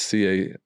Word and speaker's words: CaseOh: And they're listening to, there's some YouTuber named Queso. Have you heard of Queso? Not young enough for that yet. So it's not even spelled like the Mexican cheese. It's a guy named Case. It's Caseoh.